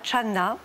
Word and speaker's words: Chan: Et Chan est la prononciation chinoise du caractère qui en japonais se prononce zen. Et en coréen, puisque c'est aussi une école qui s'est installée en Corée se prononce sonne.